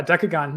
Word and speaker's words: Dekogon: googon oh sure yeah decagon yeah just like that like your gun all right and if